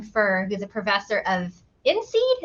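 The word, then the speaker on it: INSEAD: who's a professor of inseed is that how you say that Nathan yeah so outside of the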